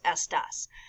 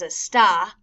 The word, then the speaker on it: esta: Again, este, esta, estos, estas. Now make sure you don't pronounce esta as a sta or estas as a stas with accents from our last unit with como está and como estás.